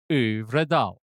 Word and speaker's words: Øvredal: Here's my, the how to pronounce this at Forvo says André Øvredal. Øvredal.